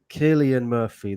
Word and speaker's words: Cillian Murphy: that yeah uh okay okay okay okay right Killian Murphy that's how you pronounce it says lazy T right I haven't